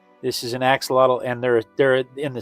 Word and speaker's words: axolotl: If you've if you've never tried to pronounce it, this animal's name is Maria. Maria. No, this is an axelottle. This is an axelottle.